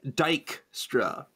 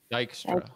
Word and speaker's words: Dijkstra: Dijkstra. Dijkstra. Because dike is a word for a little hill.